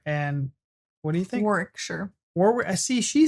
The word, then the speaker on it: Warwickshire: I think she's in Warwickshire because I know she didn't pronounce the second W.